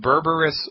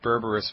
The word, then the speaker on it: Berberis: a Botanical medicine in herbal tincture it's called berberis vulgaris let me spell that for you it's be like baby e